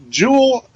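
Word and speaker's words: Joule: with the fact that Jewel which God damn it why do they have to call her Jewel and spell it like the unit of energy really j o e why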